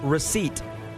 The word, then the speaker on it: receipt: All right, Bailey, also from our silent letters quiz, which letter in this word is silent? The word is receipt. The P.